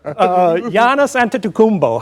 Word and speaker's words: Giannis Antetokounmpo: Giannis Antetokounmpo, how's that? I had to learn how to pronounce that.